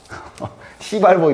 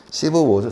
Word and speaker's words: Civil War: 이 발음 조심해야지 이거. 시발워 이러지 마시고. 우리 캡틴 시발워. 봤습니까? 맞습니다. 재밌죠? 시버워죠. 시버워인데. 이 시버이라는 말이 여기 이제 시민들 간의 전쟁이라는 뜻이어서 이게 내전을 뜻하는 말인데, 원래.